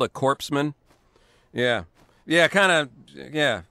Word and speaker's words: corpsman: it is it is Corman you don't pronounce the S yeah I mean it's not very good for a guy delivering first aid to be called a corpsan yeah yeah kind of